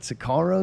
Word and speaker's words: Sicario: Sicario. Is that how you say it? Sicario? Yes.